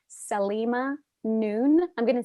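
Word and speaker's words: Saleema Noon: One resource that's really helpful about this is called Salima Noon. I'm going to spell it.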